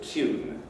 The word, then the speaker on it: tune: Palatalization, addition of front tongue raising, that's y-like, and this you'll hear in the traditional pronunciation of the word tune.